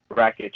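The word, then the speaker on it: Rakić: Forgot, I don't know how to pronounce his last name. Rakic, I think. Rakic, yes, there you go.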